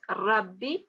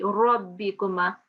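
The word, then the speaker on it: رَبِّكُمَا: Yeah, as I was telling the other students, don't pronounce as Rabbi, so don't make a fatah, round that fatah a bit in your mouth, so it will be Rabbikuma.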